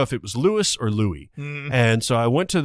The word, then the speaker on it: Louis: I didn't know if it was Louis or Louie and so I went to this you know pronunciation guide we've all seen him where it's